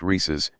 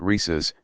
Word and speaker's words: Reese's: don't Christ's sake people it's pronounced rhesus not rhesus degree - degree did